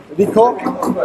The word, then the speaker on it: RICOH: RICOH, R-I-C-O-H. Okay. I think that's the pronunciation. Yeah. RICOH or RICO, wherever you want.